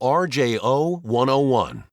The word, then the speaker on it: RJO101: mount garage door opener model RJO101 (PRONOUNCED R. J. O. one oh one).